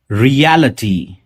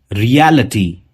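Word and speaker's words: reality: रियलिटी, काफी लोग इसे रियलिटी कहते हैं, रियलिटी, लेकिन वो इटी नहीं, अटी होगा, रियलिटी।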